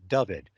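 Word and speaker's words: Dyfed: the writers uh say which you're supposed to pronounce it David which is counter-intuitive it looks like daifet but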